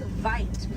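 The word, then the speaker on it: wyd: Original word for white rhino was vite. Vite means wide in apricots, but over time it was misheard and mispronounced and it turned into the white rhino.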